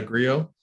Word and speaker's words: Grillo: And so today I'm very, very excited because we have Freedom From Self-Sabotage Coach, Kinesiologist, and EFT Practitioner Anna Grillo.